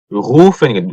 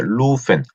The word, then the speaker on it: rufen: 이게 부르다란 뜻인데 부르다 rufen rufen 자 루펜 하는 거, 루펜 다르죠? 루펜 하면 발음이 요렇게 돼요. 루펜. 근데 요거는 루펜입니다. 루펜. 루, 루. 목 안에서 소리가 나죠. 루펜. 자, 이걸 그 조금 부정확하게 들리면 후펜 정도로 들리는 수가 있다고 하네요.